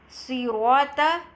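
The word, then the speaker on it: صراط: Sirata. In read Sirata, the letter Sad, heavy and with a full mouth.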